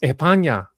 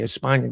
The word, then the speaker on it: España: was an immigrant from España. That's how it's said in Spain. España, not España. So, but I'll say España.